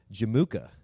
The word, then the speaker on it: Jamukha: So we're talking about Genghis Khan's blood brother, Jamukha. Is that how you say it? Jamukha. Jamukha is a good way to say it.